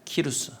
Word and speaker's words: 고레스: 고레스는 히브리어 발음으로 고레스고요. 페르시아로는 키루스입니다. 키루스.